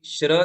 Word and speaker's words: श्री: जैसे हम अभिषेक पीठ में श्री लिखते हैं भगवान को विराजमान करने के लिए, तो उसे क्या पढ़ेंगे? श्री। शक्कर वाला श, श्री। समय वाला स पढ़ा तो बोलेंगे आप श्री, तो वो श्री नहीं है ना। भगवान स्त्री है क्या? नहीं, भगवान श्री है, श्रीमान है ना।